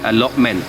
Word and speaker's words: AlotMeant: new project which is called a lot men a very cool funky name spelt with m-e-a-n-t and it's basically a